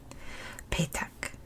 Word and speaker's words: Petak: Friday is kind of like this one, pronounced almost the same. Petak. Petak. So it has that same kind of phonetic, not petak, but petak.